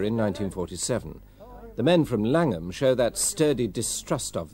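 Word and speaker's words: Llangwm: toar Beach or in langum pill the people who live here have always called it langum pronouncing it in the English rather than the Welsh manner Glenn Morgan retired as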